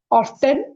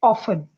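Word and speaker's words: often: This word is नॉट ऑफन इट इज ऑफन।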